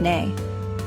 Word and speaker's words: nej: And for yes and no, it's ja, pronounced like ya, and nej, which is like nay.